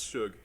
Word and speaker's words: Shug: It's shug. Like sugar, Shug? but the first syllable. I'm young CEO. Sug. No, it's Yeah. it's like the first half of sugar.